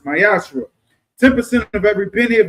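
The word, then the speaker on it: מעשר: Means t in Hebrew is pronounced myashra.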